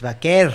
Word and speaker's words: Vaquer: Next up, we have Stephanie Vaquer versus Mercedes Moné. Vaquer? Yeah, I know, right? Excalibur and Shivani have been saying, Stephanie Vaquer. And then Excalibur's been saying, Stephanie Vaquer. It's Vaquer.